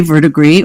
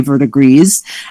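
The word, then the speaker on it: verdigris: which you can say vertigree or you can say vertigrees and they're both uh correct um by the same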